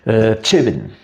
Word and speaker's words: Tcheben: Alors, la prononciation en breton, c'est Tcheben. Hein, c'est de cette façon qu'on le prononce. Donc, j'ai entendu cette prononciation en Tcheben. Tcheben, avec un « et » très fermé, donc proche du carrément « i », hein, Tcheben, par exemple.